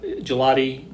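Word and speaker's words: Gillotte: How does he pronounce his last name? Gelati. It's with an E. Gelotti.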